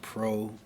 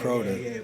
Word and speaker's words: Proda: My name is Proda. Yeah. Proda. Proda. We got it. Like prototype or protege or yeah.